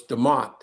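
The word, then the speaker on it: DeMonte: The E is silent, so it's Deont.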